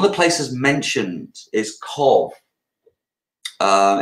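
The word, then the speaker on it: Cobh: ireland um one of the places mentioned is cove um it's spelt off top of my head is it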